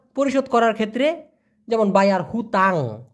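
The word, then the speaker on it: hutang: করার ক্ষেত্রে যেমন বায়ার হুতাং আমি কিন্তু হুতাং বলেছি এইচ ইউ টি এ এন জি উচ্চারণটা হলো হু তাং হুতাং মানে হলো ঋণ বাদ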